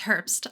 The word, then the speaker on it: Herbst: do not want to mess that up it's Herbst um I if we wouldn't get fancy we